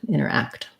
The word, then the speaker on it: interact: like a um and also interact has last syllable stress so quick on the enter or inner and longer on the act interact um great thank you